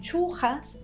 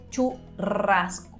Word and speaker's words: churrasco: dentro del español uruguayo churrasco pero fíjate pronunciación uno de la r vibrando muchísimo y la pronunciación de la s churrasco el ya no se